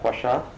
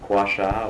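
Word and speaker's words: Kwasha: How do you pronounce it? Quasha. Robert Quasha. Quasha.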